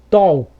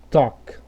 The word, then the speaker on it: talk: Aqui também, ó, no caso do ALK, ó, você não vai falar assim, ó, talk ou talk, você vai falar talk.